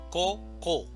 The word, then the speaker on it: coco: Yo tengo coco, decimos coco, esa es la división silábica, coco, y la mayor fuerza de voz está en la primera sílaba, coco.